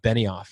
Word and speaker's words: Benioff: And I make sure I pronounce his name correctly. It's Mark Benioff, right?